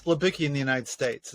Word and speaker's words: Libicki: It's Libicki in the United States. It's Libicki in Poland.